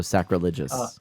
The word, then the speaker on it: sacrilegious: think of it just like religious. You know, if you're religious, so sacrilegious.